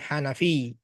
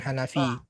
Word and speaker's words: Hanafi: Tapi ada tasdidnya ya, Hanafi. Bukan Hanafi. Hanafi ada tasdidnya.